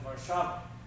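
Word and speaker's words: Warszawa: etc so we lived outside Warsaw as you guys called it vava which is the proper pronunciation so we my mother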